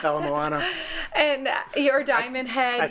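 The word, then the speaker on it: Ala Moana: PR Alon lawn Mall no it's not the alamona mall not how you pronounce it alamana yeah Alam Moana and your diamond head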